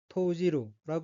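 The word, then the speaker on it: 投じる: 던질 투자가 들어 있고 일본어로는 토지루 읽으며 토지루 여기서는 던지다 집어넣었다는 뜻의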